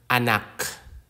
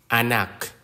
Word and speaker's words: anak: examples and English translation ah is pronounced like a in car or apple examples are are anak anak and anak in English is child e is like a